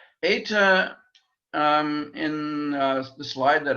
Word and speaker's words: eta: compare it with um eta is like feta fate is that an